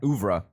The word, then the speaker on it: oeuvre: oeuvre is Oeuvre. generally horror. and then Yeah. I also considered, but I didn't put it on the list Oh, is that how you pronounce it? Say it again. Oeuvre.